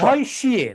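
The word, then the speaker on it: Lavoisier: আর একটা টেকনিক বানানটা তোমাকে একটু দেখাই, বলেন, ল্যাব হয় দন্তেশ। ল্যাভয়শিয়ে, ল্যাভয়শিয়ে, এটা কিন্তু দন্ত স, ল্যাভয়শিয়ে।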